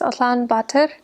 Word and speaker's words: Ulaanbaatar: I was only in the capital city, which is in Mongolian pronounced Ulaanbaatar, and I was there because I had to teach English there at a university, so I taught only in the city.